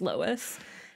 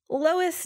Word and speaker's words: Lois: a little bit about loise Duncan I can't say her name I think it's Lois it's spelled l i s and I'm pretty sure that's just Lois let's learn about Lois